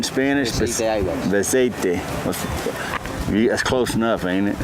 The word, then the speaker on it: Beceite: Yep, I was saying it right in Spanish. Beceite.